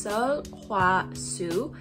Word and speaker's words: Sulwhasoo: every product first off how do we pronounce the brand's name in korean it's so hua su and in chinese it's